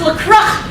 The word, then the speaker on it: LaCroix: Miss LaCroix? It's pronounced LaCroix. I'm pretty sure it's French.